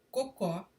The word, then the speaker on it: cocó: Existe também a palavra cocó para designar coque, que é um penteado usado aqui, um enroladinho aqui atrás da cabeça, ou a onomatopeia dos galináceos.